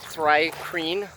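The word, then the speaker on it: Thri-kreen: But I made I believe the way we were pronouncing it was, I don't know how to pronounce the first, but it's like Thry-Kreen.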